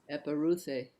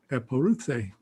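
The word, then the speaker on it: ἐπορεύθη: So she puts a syllable break there, a syllable there. This EU is a diphthong, so there's a syllable break there and here. So 1, 2, 3, 4 syllables. Eporuthe.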